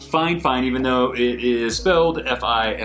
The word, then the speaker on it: Fifine: about a budget Mike called fine fine it's pronounced fine fine even though it is filled fi fi Amy